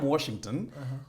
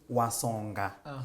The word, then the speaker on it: Washington: Now me, I'm Washington. The name my grandmother could never pronounce. So my grandmother could always say Wasonga.